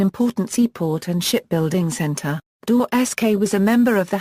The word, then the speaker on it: Gdańsk: In Polish the modern name of the city is pronounced, Gdańsk.